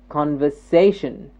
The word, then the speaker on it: conversation: next word conversation this say gets the stress conversation conversation this say gets the stress this is